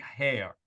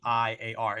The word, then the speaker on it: Heiar: His name is Greg Hare. I probably pronounced that wrong, but it's Heiar.